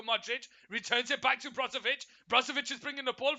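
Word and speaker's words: Brozović: Yeah, Brozovic.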